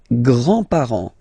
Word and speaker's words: grands-parents: Les grands-parents. Les grands-parents. Remember, you don't pronounce this final S here. Grands-parents, okay?